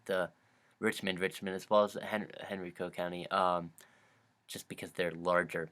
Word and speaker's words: Henrico: Henrico, yeah, that's how you pronounce it.